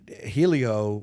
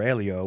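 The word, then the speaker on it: Hélio: but the the most all with RS but it pronounced with an H right right this a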